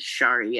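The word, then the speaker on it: Sári: real name is is her real name is shari s-a-r-i like mine and so my nickname is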